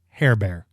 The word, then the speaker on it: Herbert: uh by the way herbert in french is pronounced hair bear by the way in